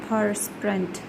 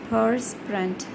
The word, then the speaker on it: perspirant: Though it is written as P-E-R-S, perspirant, you have to pronounce it like P-U-R, perspirant, perspirant.